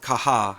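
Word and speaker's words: Caja: me spell that correctly Kaja it's pronounced some people pronounce it kaha as in the Spanish and I tend to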